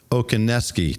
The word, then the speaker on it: Okoneski: And batting cleanup from the great state of Massachusetts, we have Bob Okoneski. Did I get that right, Bob? Absolutely.